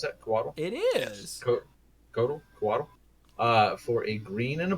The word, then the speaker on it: Coatl: Is that how you pronounce that? Coatl? It is. Coatl.